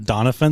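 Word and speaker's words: Doniphon: Also, why was his name pronounced like that? Donafan.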